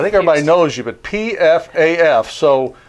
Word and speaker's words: Pfaff: we're clear I think everybody knows you but pfaf so f f p-f-a-f-f right so the appropriate pronunciation is path path so the first f is silent so you